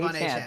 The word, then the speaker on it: Achane: Achane, thank you.